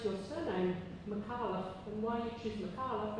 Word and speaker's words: Micallef: Just a quick question about how you pronounce your surname, Micallef, and why you choose Micallef as opposed to Micallef, which every Maltese person I've ever met with the name Micallef says it Micallef.